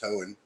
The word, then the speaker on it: Hoehn: Being that I'm so important in your life, you should know that my name is pronounced Hoehn.